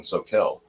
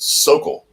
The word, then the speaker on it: Soquel: no-brainer but like where our shop was in soquel s-o-q-u-e-l that's how it's pronounced here's how it's spelled people call it sokol if they're not around hmm yeah it's like